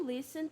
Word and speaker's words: listen: We also listen to music. Listen, o é mudo.